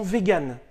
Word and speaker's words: vegan: les personnes qui sont vegan alors ça s'écrit weygand mais ça se prononce bien vegan un homme peut être